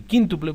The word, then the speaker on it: quíntuple: el quíntuple quiere decir en realidad se dice el quíntuple porque tiene acento en la y el quíntuple sería cinco